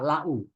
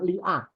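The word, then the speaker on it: لو: Lau bacanya lau. Lama li pada hamzanya bacanya lau. Tidak liu, tidak lia.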